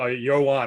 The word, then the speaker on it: Johan: So, Johan Ywan, I just realized when you said your name, I'm like, I've been saying it wrong the whole time.